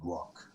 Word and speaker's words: Grokk: And then later I found out that if you just change the spelling slightly, but it's the same pronunciation, grok means to comprehend or to understand something.